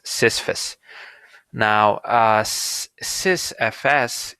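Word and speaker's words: sysfs: s syst now us sys fs if we were to pronounce it more correctly provides a uniform view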